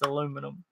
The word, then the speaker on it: aluminum: I can't pronounce it. Aluminium. No, it's not. Yes, it is. It's aluminium. It is not. In other countries, it is. It's aluminium, isn't it? It's aluminum. No, in America, but not when you pronounce it correctly.